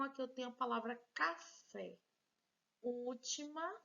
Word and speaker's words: café: última sílaba uma palavra café bem acentuada então já tá muito fácil já sei que essa aqui é a sílaba tônica café se a fé é a última sílaba é a sílaba tônica eu digo que essa palavra é classificada como uma palavra oxítona vamos agora que a